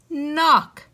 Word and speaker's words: knock: in front of it since the k is silent it makes the n sound so k n would make and then we have ock knock she needed to knock on the door she